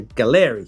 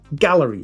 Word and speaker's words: Gaahleri: So with space in mind, I reached out to Gallery, or Gallery as it might actually be pronounced.